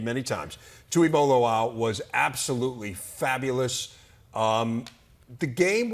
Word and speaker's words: Tuimoloau: Tuimoloau, right? We're gonna have him on today. I'm gonna have to say his name many times. Tuimoloau was absolutely fabulous.